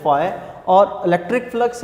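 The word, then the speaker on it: phi: Greek language का word है, pronounce आपने इसको करना है फाई।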